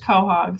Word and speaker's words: Quahog: a Quahog I love and it is pronounced Quahog sometimes I get mean